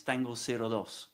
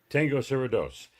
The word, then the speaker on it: Tango 02: of the group called Tango 02. Do I have that right, Pato? Well, in English, yes, but we pronounce it in Spanish, man. It's Tango 02. Tango 02.